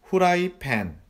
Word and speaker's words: 후라이팬: 후라이팬. 후라이팬. 후라이 basically it means fry in English. We don't have apple pronunciation, so we call this 후라이팬.